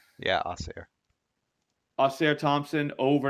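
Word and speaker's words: Ausar: is that how you say his name yeah oair oair Thompson over n and a half rebounds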